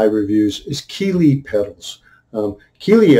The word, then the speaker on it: Keeley: is keeley petals um keeley i like the name because it rhymes with the greely greely and keeley almost the same and uh so i